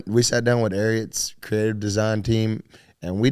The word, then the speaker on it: Ariat: Ariat, like secretariat, like the horse.